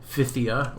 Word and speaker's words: Phthia: today we're talking about achilles faction physia or pithia i'm i think it's supposed to be pithia but it's spelled like fifia it's strange anyway achilles